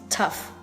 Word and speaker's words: tough: This one is cough, this one is through, this one is though, and this one is tough. Learn pronunciation so you know the system of all the vowel sounds in order for you to pronounce English words correctly and perfectly.